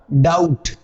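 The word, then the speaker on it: doubt: ये सीखना पड़ेगा की बी और टी जब साथ आए तो बी साइलेंट हो जाता है टी तो नहीं होगा क्या साइलेंट हो जाएगा बी बी का उच्चारण नहीं करेंगे आप इसका डाउट इसको आप दो बट नहीं कहेंगे तो क्या बोलेंगे इसको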